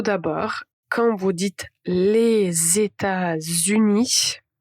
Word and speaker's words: États-Unis: C'est en fait la liaison. La liaison est invisible mais indispensable. Donc ici, tout d'abord quand vous dites les États-Unis à retenir que vous allez avoir deux aides.